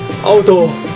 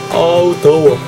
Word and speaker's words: 아 더워: Auto. Auto. Auto. Like that. All time. When you want to say it's so hot in Korean, it goes like this. Auto. Auto. Auto. Auto.